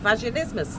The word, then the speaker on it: Vaginismus: is fast for Christmas it rhymes with Christmas so remember that and